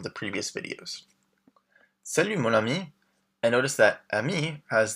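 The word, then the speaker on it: amie: So ami and ami are pronounced exactly the same.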